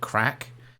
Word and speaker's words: CRAK: There's also the option to make crack out of like, it's spelled CRAK.